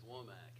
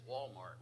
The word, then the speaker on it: Womack: was that listen my last name is Womack and you wouldn't believe how many ways people have mispronounced that I got introduced as Walmart one time we are so glad